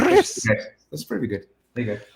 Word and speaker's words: Rhys: It's the H is more dominant than the R, but the R is Chris. wrong. Chris.